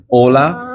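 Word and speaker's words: hola: never pronounced so like think like Ola starts with an H it's never pronounced um So Silent correct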